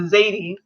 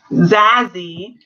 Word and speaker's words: Zazie: And everyone's just kind of like, oh, they just, well, okay, the Zuri, or the Zadie, I want to say her name correctly. Zazie.